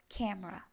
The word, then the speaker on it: camera: camera خلوا بالكو ان الاي مش بتتنطق.